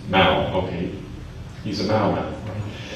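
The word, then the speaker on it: Mouw: All right, at the end of this video, Richard Mew, I don't know how to pronounce his name, Mao, okay, he's a Mao Mao.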